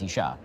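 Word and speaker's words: אִשָּׁה: It's the same spelling, you just add a hey at the end, and now it's Isha, right?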